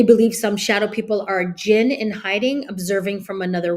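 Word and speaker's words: djinn: I'm pronouncing this right but it starts with jin dj i n and it's an Islamic mythology the oh it's pronounced jin uh are powerful beings made of smokeless fire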